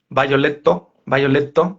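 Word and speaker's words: ヴァイオレット: Es la historia de Violet, o como la pronuncian en japonés, eh, Violetto, ¿sí?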